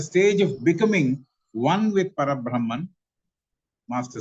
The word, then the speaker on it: parabrahman: where one is with parab parabrahman that's the correct way of pronouncing parabrahman it is a state